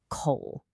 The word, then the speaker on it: 口: First up, we have coal, which is pronounced coal.